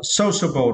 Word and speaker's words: sociable: the next words are sociable right and for this question you need to spread the first syllable so okay so support